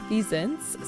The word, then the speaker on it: Wisents: So Wisents sounds like a hard V sound. The letter V does not exist in a lot of European languages. So it's kind of like a V in vine or Venus, and scent, so Wisent.